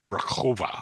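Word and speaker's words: Brejchová: The uh actress who played Princess Bianca in the 1962 film is Jana Braova.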